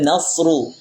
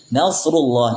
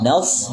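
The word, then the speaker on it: نصر الله: Kemudian nasru nasrullah nas jangan terbaca nas ya. Sin sama sh beda makhrajnya. Eh beda sama makhrajnya beda sifatnya. Shad sama dengan sin sama makhrajnya. Ujung lidah kita ditempel di dinding geser bagian bawah itu dari sisi makhraj sama. Apa perbedaannya? Dari sisi sifat. Kalau sin tipis nas. Kalau shad nas.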